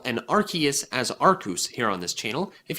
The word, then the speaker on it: Arceus: For the uninitiated, we pronounce Yveltal as Yveltal and Arceus as Arceus here on this channel.